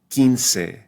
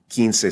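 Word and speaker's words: quince: be Ken Ken or the word for 15 kin kin so we only hear the E we don't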